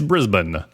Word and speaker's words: Brisbane: not Melbourne Melbourne it's Brisbane and you say it like there's no vowels in it Brisbane at least that's what I was told once it might have